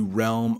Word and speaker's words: realm: I know, if you try to read it, it really doesn't look like realm, but that's how we pronounce it.